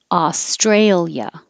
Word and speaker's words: Australia: oh ooh combination owner australia australia we don't separate the i and the a here and the adjective australian